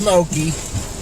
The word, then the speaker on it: Okie: She called him Okie. Not like spelled like Oklahoma, but like oak. E.